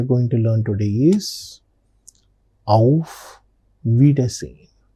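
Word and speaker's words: Auf Wiedersehen: The next particular greeting that we are going to learn today is of vidine of vidine. What is this of vidin? It means goodbye of vidin pronunciation of vidin.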